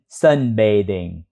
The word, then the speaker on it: sunbathing: thêm in đọc là B lưỡi giữa hai răng đọc chữ đ đ tiếng Việt bing Sun bing nhấn vào chữ sun sun bing Sun bing